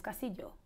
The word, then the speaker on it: Castillo: Castillo. That's my government name, my last name. Either your name or your age. I need something. Well, my name Castillo. Castillo what? And it's not Castillo, it's Castillo.